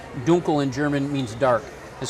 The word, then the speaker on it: Dunkel: it's called a munich dunkle dunkel or correctly pronounced duncal in german means dark and so this is